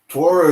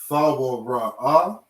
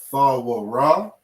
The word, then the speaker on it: Torah: Torah is not real Hebrew. Shalom is not real Hebrew. THAWRAH or THAWRAH is how you actually pronounce this word.